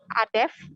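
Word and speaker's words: Adefz: Yang pertama itu ada namanya itu Adef, biasa dipanggil Adef, atau Adeps. Jadi ejaannya itu A, D, E, F, dan Z. Gitu. Atau Adef saja, Z-nya tidak dipakai. Seperti itu, Nila.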